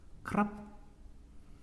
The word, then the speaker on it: ครับ: 말하는 사람이 남자일 때 존댓말 어미크랍 그런데 많은 경우에 태국인들이요 글자를 발음을 잘하지 않습니다. 러르아 그래서 우리 귀에는 값으로 들리기도 하고요. 그래서 말하는 사람이 남자일 때 안녕하세요라는 말은 싸 왔는 사람이 남자일 때 거 픈 크랍 말하는 사람의 의 남자일 때 미안합니다.